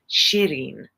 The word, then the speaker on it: Shireen: It's really Soraya and Shamsi and Shireen and Darab, but I make them American sounding.